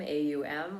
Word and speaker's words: Aum: soulful beings and so the pronunciation is om aum with a slight enunciation on the u and just let yourself